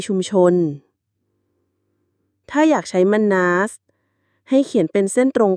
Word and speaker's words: Mannaz: ของ ตอน นี้ คือ มัน นา อ่าน ว่า มัน น สัญลักษณ์ เหมือน ตัว m